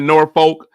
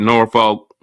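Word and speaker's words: Norfolk: Terry is name dropping I never said nor Folk no sir I honestly say nor folk as President Obama I know Obama said it right because he is not from here he doesn't know any better he don't know how to say it right you gotta say it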